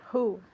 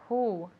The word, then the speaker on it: who: quien one more time who at home who okay great remember it's a very soft sound okay and we don't use the vocal cords that's why it sounds